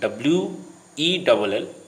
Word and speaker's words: whale: Again, WHALE and WELL are nearly same in pronunciation. They are pronounced as well.